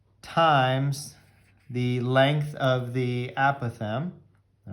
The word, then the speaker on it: apothem: That is known as the apothem, all right? Kind of a weird word, but it's spelled A-P-O-T-H-E-M, all right?